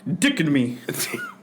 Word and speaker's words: dichotomy: It's pronounced dichotomy.